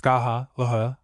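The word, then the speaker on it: Scáthach: FN number 50 pronounced skaha and epha. Skaha and end with a slight guttural like the ch in the scotch lock. Difficult to express in English.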